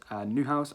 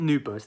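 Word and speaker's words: Neuhaus: be floran new bus new house i don't know how to say his name it's not new burst there's definitely not b in there but i believe it's florian newhouse i hopefully i've said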